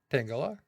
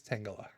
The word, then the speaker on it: Tangela: Tangela. Tangela is not right. It's Tangela.